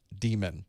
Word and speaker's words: daemon: term that actually is demon it's actually pronounced demon but in the industry